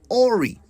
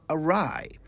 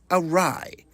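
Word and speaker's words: awry: commonly mispronounced English word I often hear people say ory when they mean to say arai a w r y arai deviating from a course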